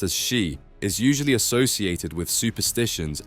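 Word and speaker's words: 四: number four pronounced as she is usually associated with superstitions and considered unlucky this belief stems from the fact that she sounds similar to the word for death in Japanese which is shei as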